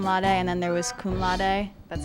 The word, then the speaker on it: cum laude: As summa cum laude, and then there was cum laude. That's how you pronounce it.